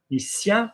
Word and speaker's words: mécanicien: Mécanicien, there's a C. We know it's soft because there's an I or an E. Mécanicien. Il adore les voitures anciennes.